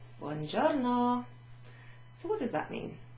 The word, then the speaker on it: buongiorno: Buongiorno significa hello or good day. Literally, good day. Buon giorno. Giorno. G and an I together is a G. G. G-I-O. Gio. Gio.